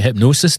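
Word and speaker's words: Hipgnosis: Hypnosis, but it's spelled funny, isn't it? Spelled with a G. Hi PG.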